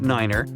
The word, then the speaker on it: niner: It's the way pilots pronounce certain numbers in their pilot English. Tree stands for three. Five for five and niner is used instead of nine. Such pronunciation helps to avoid radio miscommunications and the confusion caused by similar sounding numbers.